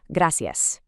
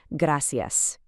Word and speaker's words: gracias: Gracias. Try to softly tap or just slightly roll that R if you can. Gracias.